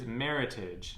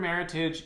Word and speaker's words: Meritage: The last word that you see is meritage. Now, it's pronounced like the English word heritage, don't put a French accent on it. The word meritage is actually a trademark word out of an association in California.